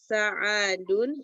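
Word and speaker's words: سعد: Kam akhon laka ya Sa'adun Su'adu. Sa'adu Su'ad. Su'ad. Sa'adu Su. Su'ad. Jadi kalau ainnya panjang seperti ini bacanya su'ad. Kalau ainnya pendek sa'adun.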